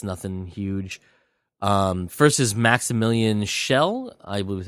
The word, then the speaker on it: Schell: First is Maximilian Schell, I believe is how you say his last name.